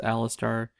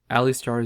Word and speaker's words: Alistar: Yes, I know it's pronounced Alistar. Alar is just really fun to say.